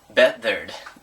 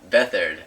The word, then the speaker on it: Beathard: Beathard, John. Beathard, or Beathard, as you might think his name is pronounced.